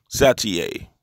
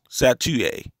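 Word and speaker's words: Chatoyer: And his last name is spelled, or his surname is spelled Chatouer, but it's the French pronunciation of Satouye. Satouye.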